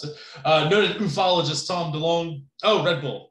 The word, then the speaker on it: ufologist: For here, I've got noted ufologist, or ufologist is how we like to pronounce it. Noted ufologist Tom DeLonge.